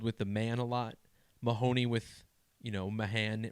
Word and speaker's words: Mahoney: And the gematria wasn't really interesting, but think about how Mahoney rhymes with the word baloney.